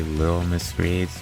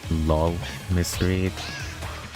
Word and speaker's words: Lil Miss Reeds: It's supposed to be Lil Miss Reeds, but they read LOL Miss Reeds. Like LOL instead of LIL.